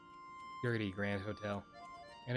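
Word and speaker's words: Goethe: I was thinking of the uh hotel in Star Rail where it's the it's like spelled but it's pronounced Gertie. Gertie.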